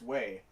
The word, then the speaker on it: は: and yes, I said wa. When the character ha is used as a particle in this way, it's pronounced wa.